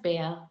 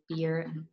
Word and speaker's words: Beer: so difficult to say so the proper would be of course beer right well in german it's beer but yeah i don't i don't mind if someone pronounced it like beer um how many uh